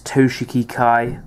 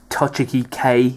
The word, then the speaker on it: Toshiki Kai: it's the overlord Blaze toshiki Kai or if you don't know how to say it toiki K if you want to say that probably not because that's completely wrong um yeah it's the